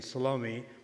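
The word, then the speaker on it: Salome: mother of James and salomi or some pronounce name salom are the same three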